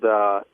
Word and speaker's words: Addyi: Nobody knows how to pronounce the darn new drug, the new female Viagra drug called ADDYI. How do you pronounce that, by the way? Addy.